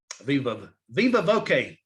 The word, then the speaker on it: viva voce: That's a viva voice vote. Viva voce vote is the way it's pronounced in Latin, but it's a voice vote.